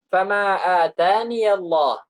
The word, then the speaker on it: فما آتاني الله: Kemudian ada juga ya, tidak ditulis, tapi diucapkan. Seperti apa? Fama atani Allah. Fama atani Allah. Itu kalau di dalam mushaf, itu ya tidak ada. Makanya ditulis pakai ya kecil.